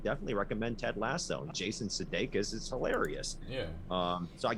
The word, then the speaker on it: Sudeikis: Jason Sudeikis. Sudeikis. Sudeikis.